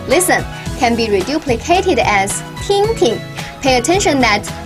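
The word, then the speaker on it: 听听: can be reduplicated as tinking pay attention that p is a single syllable and the second tin is pronounced in a neutral tone third tone means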